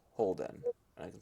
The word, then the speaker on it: Holden: lived a demigod by the name of Crowley Holden and I can spell that if you want yes please uh c